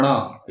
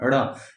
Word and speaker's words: ण: ढ में, तो ण, उच्चारण इसका होता है ण, यानी बड़ा र और नासिका से चंद्र बिंदु उस पे लग जाता है, उस तरह से आवाज निकालनी है ण।